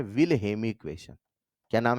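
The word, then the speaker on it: Wilhelmy: आज से कई साल पहले विल हेमी वी ल एच ई एल एम वाई हेमी L silent है जैसे ऋितिक का एच होता है अरे ऋितिक रोशन का साइलेंट है ना भाई निमोनिया का पी है हां या ना वैसे विल हेमी नाम है है ना विल हेलमी नहीं नाम है ठीक है अब विल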